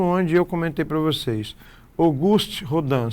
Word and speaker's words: Auguste: Chegamos no ponto onde eu comentei para vocês, Auguste Rodan, se escreve Auguste, mas se lê August.